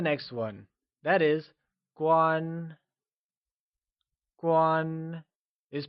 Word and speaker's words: 关: Guan is pronounced using a high level tone. Let's try and say guan. It is said with a high level tone, like guan.